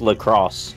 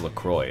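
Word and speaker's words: LaCroix: lacroy oh my God it's pronounced lacrosse it's actually pronounced lacroy as much as I hate to admit it it's actually pronounced lro it should be laqua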